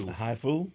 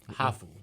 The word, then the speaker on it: hafu: Haifu? Hafu, like half. Oh, but hafu. Can't, They can't pronounce it like So half.